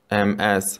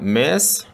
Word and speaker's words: Ms: It's not Miss, мы не произносим слово Miss, мы произносим Ms.